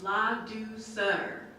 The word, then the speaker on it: Ladouceur: My name is Ladouceur. That's how you pronounce it. Okay, it's French.